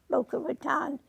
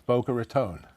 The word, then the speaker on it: Boca Raton: The other day I asked you about the city called Boca Ratan. Is it is it pronounced that way? No, it is not pronounced Boca Raton.